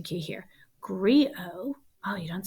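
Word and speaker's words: griot: professional storyteller called a oh i need the pronunciation key here grio oh you don't say the tate called agrio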